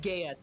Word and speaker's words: Gaia: It's pronounced Gaia today.